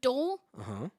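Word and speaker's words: dhole: animals such as deer and antelope okay so dole dole dol d-h-o-l-e dole there you go yeah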